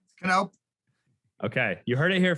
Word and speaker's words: Knopp: Knopp. Okay, you heard it here first, people. So now you actually know how to pronounce it.